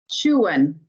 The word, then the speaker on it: Chuen: Chuen is actually how it's pronounced in Mayan. Chuen, the blue monkey.